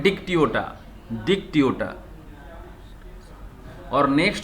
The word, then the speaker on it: Dictyota: इसका नेम है डिक्टियोटा, डिक्टियोटा।